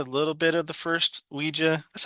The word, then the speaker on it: Ouija: All right, I'm gonna do a quick little double feature here because I watched Ouija and Ouija: Origin of Evil from 2014 and 2016.